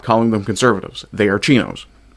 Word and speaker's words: CINO: They are chinos. C I big M. Big O conservatives and name only. Pronounce it chino, not cino. We're not talking about the Chinese.